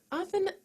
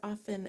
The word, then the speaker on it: often: Often has a letter T, which sometimes we pronounce and sometimes we don't. Some people say it, some people don't. So if you hear often and often, it's the same word.